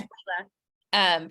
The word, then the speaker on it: Leala: It's Leela, right? That's how you pronounce it? Yes, Leela. First of all, thank you